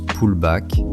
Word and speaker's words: pullback: Le pullback se prononce pullback, c'est le répit, le petit retour en arrière.